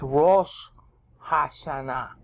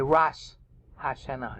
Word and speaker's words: Rosh Hashanah: There's been a tendency of Jews to pronounce A sounds as O sounds. Okay? Like it's Rosh Hashanah in the Hebrew. But they say Rosh Hashanah. And I grew up saying it like that too.